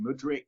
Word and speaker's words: Mudryk: Yeah, again, maybe another one to butcher, but I think it's pronounced Mudryk from Shakhtar, the young 21-year-old winger.